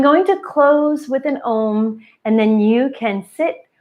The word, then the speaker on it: Om: you're learning the um there are three sounds to the ohm almost like a u m and you may have seen it spelled like that each sound should be